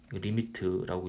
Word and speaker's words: lim: 여러분 lim 리미트라고 읽고요.